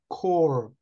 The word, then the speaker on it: corps: Andrew, chairman of the apostolic core of the kingdom. 이게 CORPS는 발음을 core라고 그래요. 끝에 PS는 발음을 안 해요.